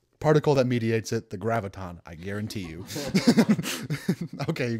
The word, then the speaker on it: graviton: to keep the the I always want to say it like Gravitron like the ride m graviton is that confirmed no